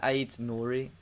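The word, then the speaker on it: Aït-Nouri: It's pronounced really weird, isn't it? That when I heard him say it the other day, it's literally Ryan Ait-Nouri.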